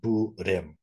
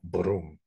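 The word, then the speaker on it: bhrūṃ: budham is a is a Sanskrit seed syllable broom uh and and but in um neither in Chinese or in Korean do people can can people people pronounce that in a single syllable um so they make it buim they make it but it's it's in in um in Sanskrit it's originally one syllable Brom uh with a cabic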